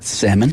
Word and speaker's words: salmon: I love salmon I'm proud of you for saying it correctly too salmon you just seem like